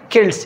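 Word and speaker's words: Celts: वहाँ के जो पहले से रहने वाले लोग थे वो किल्ट्स के नाम से याद की जाती थी। किल्ट्स, इसका प्रोनाउंसिएशन कोई सिल्ट जैसा लग रहा है, नहीं, लेकिन नहीं, ये किल्ट है।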